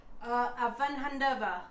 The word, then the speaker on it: Avanhandava: We are on a street called Avanhandava. Avanhandava. Yeah. We were told by a local Brazilian, it's hard to say even for Brazilian people. Because the emphasis is quite often on the last syllable.